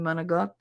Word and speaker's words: manicotti: Can I have some manicotti? You mean manigot?